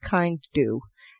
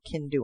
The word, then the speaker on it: Kindu: together that one word oh could be pronounced kind do i don't know i'll go can do on that one um this is uh